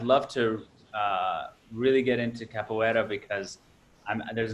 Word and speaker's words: capoeira: I'm gonna fuck this up, so I'm just gonna say you do capoeira.